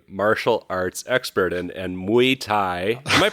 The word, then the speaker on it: Muay Thai: And and Muay Thai. Am I pronouncing that correctly? Muai. Muay Thai.